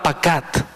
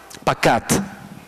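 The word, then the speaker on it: פקד: La palabra visita es la palabra pacat, con acento en la segunda A, pacat.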